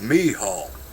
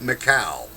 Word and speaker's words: Michal: It's pronounced Michal, not Michal. It's an Old Testament Hebrew woman.